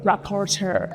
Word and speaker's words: rapporteur: How do you say the word? Rapporteur. Rapporteur. Special rapporteur. Brilliant. Thank you so much. People have said rapporteur, people have said reporter.